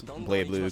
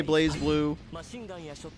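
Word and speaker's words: BlazBlue: It feels It's always nice when you hear a Japanese person pronounce Blade Blue correctly. All the Western fans I know call it Blaz. Obviously, I think people who actually enjoy the series know how to say it. But it's funny. It's like the most mispronounced video game title ever. Yeah, that's that's what most people say. Most people say Blaze Blueue and you know that's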